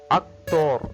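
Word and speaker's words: actor: but pronunciation is different we'll see how to pronounce it akor akor akor right letter A always a sound so a a right you can see after the C here you can see the letter is T not ioe if ioe then sound is C Sound but if not sound is k k so akor akor good next one Festival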